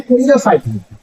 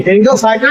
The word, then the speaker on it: Pteridophyta: आर एन याद रखिएगा इसमें पी क्या है साइलेंट है पी का उच्चारण नहीं होता है नाम क्या बोलते हैं हम लोग फाइटर पी साइलेंट ये ग्रीक वर्ड है